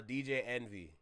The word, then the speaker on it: DJ Envy: DJ Envy.